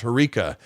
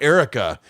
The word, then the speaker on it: Herka: assume you're being funny my name is hkaa it's pronounced herka and he kept calling her her and she said my name's not Erica it's herka and then he would